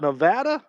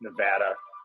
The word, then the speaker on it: Nevada: do you say it is it Nevada or Nevada it's Nevada ask a Nevada resident how you say it you see Nevada they look at you like they want to kill you 8 amm